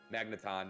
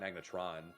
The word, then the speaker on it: Magneton: magnetron were really cool magneton not magnetron he's a transformer yeah